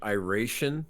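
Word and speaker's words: Iration: what does that band I raishin that is how you pronounce their name yeah I've heard it pronounced so many different ways you know how we we're in a border town so they don't know how to mutation I raishin I ration but I think it's a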